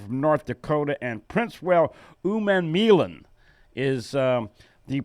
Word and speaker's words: Umanmielen: Theo Grace is a linebacker from North Dakota, and Princewell Umanmielen is the pronunciation.